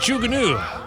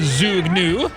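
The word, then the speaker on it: Zhuge Nu: to pronounce unit the jugunu when i have to remind myself how to pronounce it i i think of trains but some people can refer to it as the zoo gnu now this piece of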